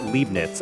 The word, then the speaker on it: Leibniz: Oh, it's pronounced Leibniz. Oh, I am so sorry. I butchered your name.